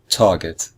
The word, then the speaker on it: target: both syllables are equal target or in fact it's the first syllable if you listen carefully it's the first syllable which is just slightly stronger than the second syllable we say I